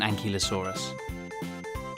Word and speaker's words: ankylosaurus: how do you say that again an key low saw russ how big was an ankylosaurus it was as long as a bus and